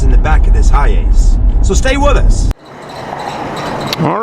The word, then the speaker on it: Hiace: a little research and he says it's pronounced high ace hi ace something like that i'm